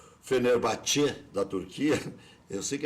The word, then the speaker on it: Fenerbahçe: já se apresentou ao Fenerbahçe, né? É assim mesmo a pronúncia, eu sei que é meio estranho, mas é Fenerbahçe, aprendi com Lauro José de Quadros aqui mesmo nesse estúdio.